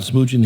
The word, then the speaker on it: Smoogen: in the studio with us today uh Smoojin. He is the HCM consultant for Pelocity. Am I pronouncing your name correctly?